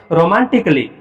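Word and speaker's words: romantically: तो ए के तुरंत बाद अगर डबल एल वाई आता है तो उस समय ए साइलेंट रहता है। इसको क्या पढ़ोगे? रोमांटिकली।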